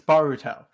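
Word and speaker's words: Boruto: yeah yeah um manga names that I cannot pronounce uh oh it's the Naruto thing it's baruto it's baruto where you inform me that's a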